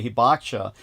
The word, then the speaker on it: Hibakusha: For those of you who don't know, it's spelled like Habakusha, and you might as well say Habakusha because that's the only way Americans are going to remember it. When you say Hibakusha, they're not going to be able to look it up because they won't be able to spell it.